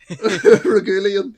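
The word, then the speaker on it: Reguilón: him right say that again how did you pronounce that I can't even say it yet what you please say it again regulan regulan sounds like a li regulan oh my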